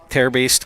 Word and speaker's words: Terbaste: Terbaste comes in from first. That is how Coach Brostowitz explained to me how to pronounce her name.